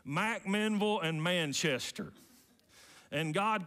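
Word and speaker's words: McMinnville: there it's halfway between M Menville and that's how they say it in Warren County M Menville and Manchester and God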